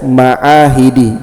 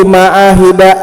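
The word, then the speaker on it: معاهدِ: Karena bersandar dengan kata lain setelahnya, maka dibaca ma'ahidi. Jangan baca darastu fi ma'ahida an-nuri, jangan. Jadi nanti cara bacanya darastu fi ma'ahidi an-nur.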